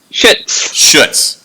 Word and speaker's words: Schutz: Anja Schutz, am I pronouncing that correct? Schutz.